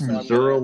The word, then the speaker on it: Missouri: be you know Alabama yeah why do I pronounce missourah like Missouri that's that's a channel specific thing